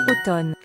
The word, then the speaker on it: automne: automne, Particularidade, outono, eu não pronuncio o M, eu pronuncio somente o N, d'accord?